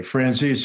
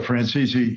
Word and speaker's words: Franzese: Well, you know, you first of all, you can say my name either way, Francis. So Frances, so you're correct.